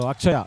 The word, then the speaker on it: Akshaya: Because the spellings in Tamil can be a little tricky that when it is written in English. So Akshaya actually is what the name is, Akshaya.